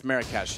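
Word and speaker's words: Marrakesh: he's very very low I pronounced it wrong it's marash and I didn't know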